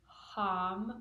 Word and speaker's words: Ham: And then the throat chakra syllable is Ham, with an H.